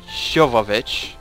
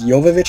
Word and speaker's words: Jovovich: resident evil with mila shovovich did i get the name right well i guess it's pronounced technically it's jovovich i guess okay mila i'll